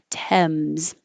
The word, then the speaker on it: Thames: forget about the a forget about the S it really is a d and an E and A Z Thames notwithstanding Stan is secondary